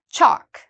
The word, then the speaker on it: chalk: no l pronunciation folk chalk same thing again we we have the a here which means no l chalk and I've already explained